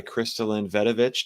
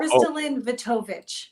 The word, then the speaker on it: KristaLyn Vetovich: Higher Self Expo, and I'm joined today by KristaLyn Vetovich. Did I say it right? No, not this time. It's No. Oh, KristaLyn Vetovich.